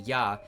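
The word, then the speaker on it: 八: That's why eight, the number one less than nine, was given the pronunciation ya, I believe.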